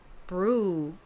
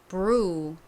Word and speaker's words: brew: 그리고 EW는 이 단어에서는 우 발음이 납니다. 그래서 발음이 어떻게 되나요? brew, brew 이렇게 발음이 되죠. 참고로 이때 R은요. 혀가 앞니 뒤에 닿으면 안 됩니다. ru 이 부분을 발음할 때 혀가 앞니 뒤에 닿지 않도록 신경 쓰시면서 두 번 발음해 볼게요.